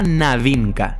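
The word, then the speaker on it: новинка: palabra rusa novi, nuevo, concretamente de su variante novinka, pronunciada navinka, novedad.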